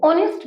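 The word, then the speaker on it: honest: तो हमारा एच तो इसमें साइलेंट होता है और हम क्या लिखते हैं, इसको ऑनेस्ट लिखते हैं। क्या लिखते हैं, ओ, ऑनेस्ट बोलते हैं।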